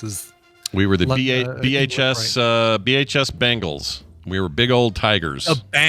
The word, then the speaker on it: Bengals: I hear so many people pronouncing like the Cincinnati Bengals. I hear them pronouncing Bengals. I'm like, no, it's the Cincinnati Bengals. It's definitely an E in there, not an A.